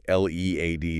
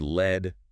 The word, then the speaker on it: lead: L E A D is another one. Yeah. Pronounced lead rhyming with need.